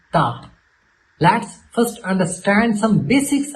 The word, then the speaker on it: ت: to the next letter Ta. Let's first understand some basics about the letter Ta. We should not read it as Te, which is common in Urdu accent.